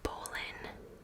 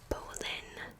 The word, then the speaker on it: Boleyn: this woman and poland i always say and bowlin but i'm pretty sure you're supposed to say bowling like two syllables bowling wait it's two syllables either way never mind so this woman and